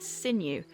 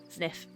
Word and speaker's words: Zniw: time looks me like it'd be pronounced sinew yes but in the encyclopedia it says it's uh sniff because I thought it was new based on how it's spelled couldn't think of a